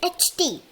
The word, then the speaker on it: knight: And the second night is knight, which means a soldier is going for a fight. Now, you must be confused why we call it night, and it is because the K is silent, and many words like this have silent letters.